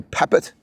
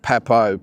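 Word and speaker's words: Papot: I was going to say Papet, the way we would probably describe it here or pronounce it, but I'd say it's David Pepo.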